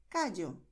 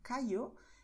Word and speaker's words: Cayo: Es decir, pronunciarás Llanes, Villa, Yucatán, Cayo. Y eso es correcto, pero no es la única manera de pronunciar. Si prefieres decir Llanes, Villa, Yucatán, Cayo, es totalmente correcto también, ¿vale?